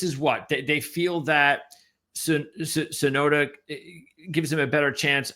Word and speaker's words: Tsunoda: So Yuki, how do you pronounce his last name? Is it Tsunoda? Tsunoda, exactly. Okay, right.